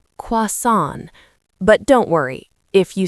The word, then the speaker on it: croissant: This is a French word, so the spelling is tricky, but we say it like "kwah-son".